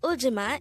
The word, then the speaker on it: 울지마: hangle word number 176a this is pronounced as a three syllable word the first syllable is second syllable is G the third syllable is ma pronounce it with meima the word uima is an informal way